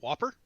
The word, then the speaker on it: WOPR: war operation plan response uh pronounced like the cheeseburger the whopper and it was to